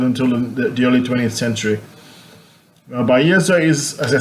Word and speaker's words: Bahia: Now he moves on to Bahia. He says Bahia, but it's not the H is not pronounced.